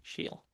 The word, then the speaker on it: Shiell: Welcome to the show, Melani Shiel. Thank you. Thank you so much. Hopefully I pronounced your surname properly.